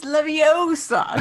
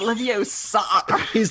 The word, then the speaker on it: Leviosa: It's Leviosa, not Leviosa. That's why it's not working.